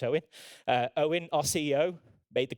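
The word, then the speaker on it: Eoghan: And Owen, it's a strange spelling of Owen, it's actually pronounced Owen.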